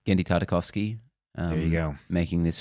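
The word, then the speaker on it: Genndy Tartakovsky: Finally, we have a short clip from Primal, which is a guy, I can't pronounce his name. Gendy Tartakovsky.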